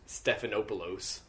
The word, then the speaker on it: Stephanopoulos: The way you say his name is like George Stephanopoulos. Well, you know, that's like the real way you're supposed to say pronounce it.